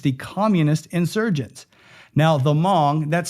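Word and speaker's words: Hmong: Now the Mong that's spelled H M O N G. It's an ethnic group. The H is silent.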